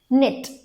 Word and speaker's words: knit: बाद में उनको जब प्रैक्टिस हो जाएगा, जब वो K और N को साथ में देखेंगे तो वो खुद से बताएंगे कि K साइलेंट है. Okay so the word you can practice is knit.